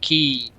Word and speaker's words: Ki: Z games and I didn't know that Ki meant uh chi and I think they do pronounce it like key but yeah it just